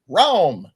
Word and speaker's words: Raum: with the book called Raum. R-A-U-M. Spell it. R-A-U-M. It's spelled just like it sounds.